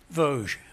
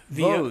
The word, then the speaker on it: Vosges: In the you pronounce the mountain range for me. Vosges. Vosges. Vosges.